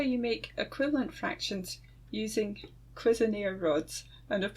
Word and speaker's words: Cuisenaire: so that's how you make equivalent fractions using quiser rods and I've pronounced it right this time thanks for watching